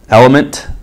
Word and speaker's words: LMNT: of these Brands none element lmnt is how it's spelled liquid IV so again